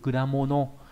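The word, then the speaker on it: 果物: là thành quả và đặc biệt trong từ kudamono. Kudamono là chữ quả, chữ vật nghĩa là hoa quả. Đấy. Nó đọc là kuda, bình thường mình không thấy nó đọc là kuda đúng không?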